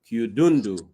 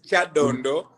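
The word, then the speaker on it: Kyadondo: No, the name is Chadondo, but you pronounce it in a very interesting way. And I will not be surprised when I go back and the Ugandans are calling it Chadundu because it sounds musical.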